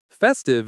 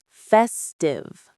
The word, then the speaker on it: festive: Let's say that. Festive. Festive. Stress on the first syllable.